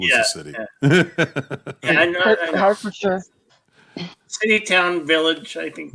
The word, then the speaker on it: Hertfordshire: I lived in Massachusetts for 30 years, so I'm familiar with it's spelled Hertfordshire, but it's pronounced Hertfordshire because I live near Worcester and Dorchester and Needham.